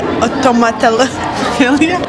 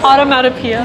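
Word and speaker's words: onomatopoeia: Automatophilia. Automatopoeia. Yes. Automatopoeia. Automatophilia? Stop. This is so embarrassing. Automatopoeia. Automatophilia. You're adding an L where there's no L.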